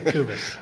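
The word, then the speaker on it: Kubisz: pronounce your last name kubis just don't pronounce the Z and you're fine okay kubis I'm kubis I'm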